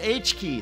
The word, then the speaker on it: h.ki: K it's pronounced H key that's not a coincidence to us choosing H